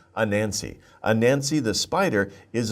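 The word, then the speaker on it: Anansi: like a jane but no it's don't say ah nancy just say a nancy a nancy the spider is a legend from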